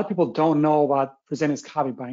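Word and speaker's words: Fresenius Kabi: So it's pronounced Fresenius-Kabi.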